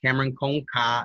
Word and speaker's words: Kameron com K: Kameron Conca is how you say my artist's name. It's Kameron with a K in Portuguese.